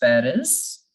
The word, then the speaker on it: Paris: is France this is Paris we say Paris in English in French we don't say parents we keep the last alphabet silent we know that the